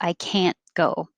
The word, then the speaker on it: can't: hat and cat can when we use the negative we don't pronounce the t we just hold the tongue there can so it will